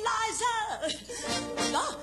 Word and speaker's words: Liza: It's no, Liza with a Z, not Lisa with an S, cause Lisa with an S goes snuts.